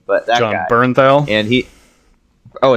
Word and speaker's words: Bernthal: Bertinelli, I don't know how to pronounce his name, but that John guy. Bernthal.